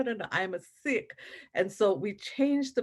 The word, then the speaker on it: Sikh: Sikh is how we pronounce it in India.